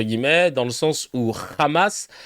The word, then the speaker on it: Hamas: dans le sens où Hamas, c'est la prononciation en hébreu. Parce que les H, on les prononce avec ce r, voilà, en hébreu.